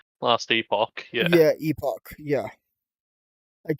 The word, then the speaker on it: Epoch: then there's Last Epic. Last Epoch, yeah. Yeah, Epoch. Yeah, I keep mispronouncing it, and she keeps correcting me.